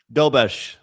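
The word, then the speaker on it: Dobeš: What uh how do we pronounce his last name again, Andrew? Dobish.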